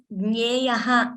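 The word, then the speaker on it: ज्ञेयः: That is because Gneyaha is splitting the Sandhi. Gneyo is combining. So when I'm pausing or when I'm splitting there, strictly speaking, I should pronounce it as Gneyaha because it is a Visarga.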